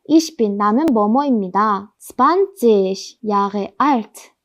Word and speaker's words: Jahre: 요거 Jahre 발음 어려우시죠? 이거 어떻게 발음하냐면요. 일단 요게 영어에선 J잖아요. 근데 독일어에선 이거 J라고 부릅니다. 요거의 쓰임은요. 이게 J 소리가 전혀 아니에요.